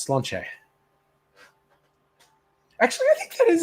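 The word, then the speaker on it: Sláinte: But if you've ever seen that toast, Slainte, it's not slaint, it's slanche.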